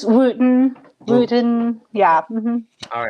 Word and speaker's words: Wootton: By the way, how do I pronounce your last name? It's Wootton.